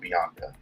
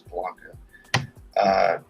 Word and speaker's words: Blanca: Again, her name is not Bianca. I actually mispronounced her. Her name is Blanca. Followed her.